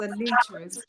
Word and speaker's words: Anitris: It does not have a T at the end. But it's pronounced Anitris. Anitris?